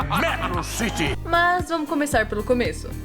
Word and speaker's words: Metro City: A pronúncia é Metro City!